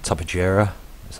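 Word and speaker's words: Tupuxuara: legitimately at the top there we've got a Tubba JIRA that's how you say it with tech armor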